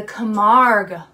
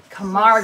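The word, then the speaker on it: Camargue: mammal the camp horse that's right is the Kamar horse Kamar horse so here is spelled Kamar horse s c a m a a r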